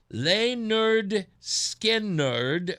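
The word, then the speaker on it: Lynyrd Skynyrd: In 1973, Leonard Skinnard released their debut album pronounced Leonard Skard featuring Freeird and Simple Man.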